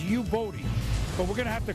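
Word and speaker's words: Youboty: And Buffalo likes picking these guys, but this is pronounced Yuboti, but we're gonna have to call him Casey and the Sunshine Band.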